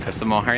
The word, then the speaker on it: Cliffs of Moher: Cliffs of Moher, yeah.